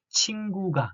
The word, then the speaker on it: 친구가: So 기억 here is between u and a, so we should pronounce it as G, g sound, like 친구가, not 친구가, 친구가. It's a more like a voiced vowel, consonant, 친구가.